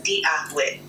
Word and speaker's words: Dia duit: So I'm going to say with Dia Gwich. So see if you can pronounce it. Dia Gwich. I'll give it my best try. Dia Duit, pronounced roughly as Dia Gwit.